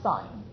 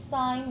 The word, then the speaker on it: sine: and hypotenuse well that's sine so I say the sine of 50 it's pronounced sine not sin is equal to the